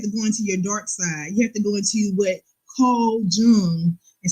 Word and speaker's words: Jung: You have to go into what Carl Jung, and some people might pronounce it as Jung, but it's Jun.